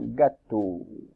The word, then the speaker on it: gâteau: Et un gâteau, avec le O qui s'écrit E-A-U, un gâteau.